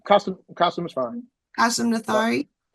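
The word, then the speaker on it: Qasim Nathari: kasum kasum is fine kasum nathari did I say it right you said it perfectly all right I hate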